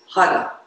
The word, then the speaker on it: har: finger pressing surya mudra the mantra is hara it's h-a-r and pronounced and the idea is